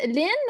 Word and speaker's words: Lynn: um nina is saying lynn is lynn or lean am i mispronouncing your name in any way no it's okay people like to call me different things so no no no problem what is your name okay so lean it is okay uh great so